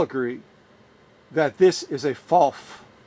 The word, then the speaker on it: Pfaff: this premiere and saying why isn't he saying faff why isn't he saying faff well it's because I genuinely believe that this